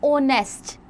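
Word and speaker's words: honest: Many words begin with the silent H. So they also begin with the vowel sound you know and there for take an जैसे एन ऑनेस्ट एच की sound नहीं है ओ की sound हम लेके चल रहे हैं एन ऑनरेबल मैन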